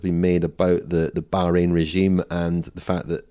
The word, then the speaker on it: Bahrain: on the the new Bahrain team Bahrain sorry to give it the proper pronunciation before we have the